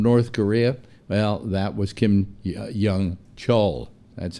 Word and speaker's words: Kim Yong-chol: Well, that was Kim Yong-chol. That's how his name is pronounced.